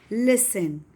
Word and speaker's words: listen: Listen. T is silent.